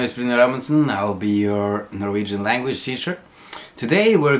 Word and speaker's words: jo: this little adverb right it's an adverb just you how it's pronounced specifically just straight out you that's it